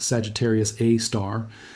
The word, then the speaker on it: Sagittarius A*: Sagittarius AI, pronounced Sagittarius A star, sits at the exact